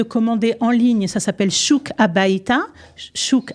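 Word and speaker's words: Shuk HaBayta: Ça s'appelle Chouk Habayta, Chouk à la maison, Chouk Habayta. Ah, ça s'écrit SHUKHABAYTA.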